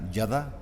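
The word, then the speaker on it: ידע: De la derecha a izquierda, pero se pronuncia yadá, con Y, yadá, acento en la segunda A.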